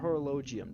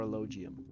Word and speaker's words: Horologium: describe uh mr mr horologium deus the age is silent or a logium yes all right um